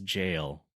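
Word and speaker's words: gaol: Uh G O A L is jail. It's just an old Is that the old It's It It is jail.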